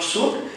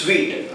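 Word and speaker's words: suite: that process so that it's not soup it's sweet like sweet what we needed the pronunciation should be like the sweet not soon the sweet room means two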